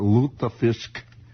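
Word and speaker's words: Lutefisk: wasn't kidding wasn't it that is loop the fisk l-u-t-e with the little umlauts and little things little little crystal balls and chandeliers over to you there luther fisk luther fisk the way it's pronounced and uh well i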